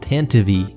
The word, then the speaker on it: Tantive: For one, you're probably going to see people in the comments saying it's pronounced Tantive, which does seem to be technically correct, but it's just silly.